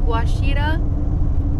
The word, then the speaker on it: Ouachita: So according to Google, because we needed to ask Google, the lake we're going to, Lake Ouachita, I would have never guessed that's the way it was pronounced based on the spelling.